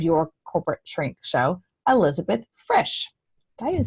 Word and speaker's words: Frisch: Frisch. Rhymes with fish. Super easy. Put an R in it.